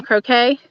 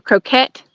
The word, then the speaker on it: croquet: back in the day some croquet or croquette however you pronounce it both ways are actually correct depending on where you live looks like all grass